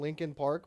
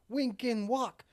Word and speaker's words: Linkin Park: And so all the people in Singapore were chanting Linkin Park, but they couldn't pronounce it correctly. So you just hear all these people go, wink and walk, wink and walk. Yeah, the P's are hard, which I don't understand.